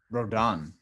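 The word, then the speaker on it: Rodón: free agent and uh it's Carlos rodon rodon right on right yeah r-o-d-o-n with a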